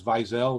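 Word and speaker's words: Weisel: of naphtali hertz weizel in english for some strange reason it's spelled wesley uh but his name was vizel very similar to ellie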